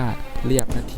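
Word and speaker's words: เรียบนาที: ของ มัน ไม่ ได้ อย่า เผลอ อ่าน ผิด กัน นะ ครับ ต้อง อ่าน ว่า เรียบ นาที นะ ครับ อ่ะ ที่ 7 บ้าน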